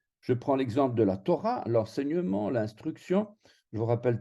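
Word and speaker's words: תורה: Et donc, Torah se termine avec un kamat sous la lettre resh et avec un he à la fin du mot. Et on va prononcer A, Torah.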